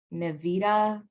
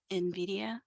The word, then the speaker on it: Nvidia: by 16 slot the main main manufacturers are nevita or how do you pronounce that in the in Nvidia Nvidia and ATI radiant radon and that's it